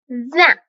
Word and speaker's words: vin: These vowels are produced in the nasal cavity and generally occur when the vowel is preceding an M or an N, as in the word vin, vine, or bon, good, and also bonjour, just saying.